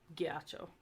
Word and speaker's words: ghiaccio: GH, once again, only before I or E, pronounced like the G in rag, like ghiaccio.